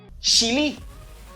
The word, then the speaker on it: Chile: Et vous prononcer Chili mal en anglais. Let's go. Chili. Chili. Ça qui passe? Ou pas dit Chili, I say chili. Pour qui ça? M'genyen CH. Là, m'a genyen ch.